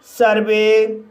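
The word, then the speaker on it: survey: जैसे सर्वे, सर्वे शब्द के अंत में ई वाई आया है लेकिन ई वाई से पहले वी आया है, इसलिए ई वाई का उच्चारण ए होगा, इसलिए इसे सर्वे पढ़ा जाता है।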